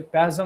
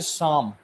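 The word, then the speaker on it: psalm: আচ্ছা সরি, ওটার একটা জিনিস আছে, ওটা হচ্ছে প্যাসম না, হ্যাঁ স্যাম। ওটা হচ্ছে সাম। ওটার যে PLASM যেটা, PLটা প্রোনাউন্স হয় না, আমার ভুল হয়েছে, আমি ওটা ভুল বলেছি, ওটা হচ্ছে সাম আর কিছু না।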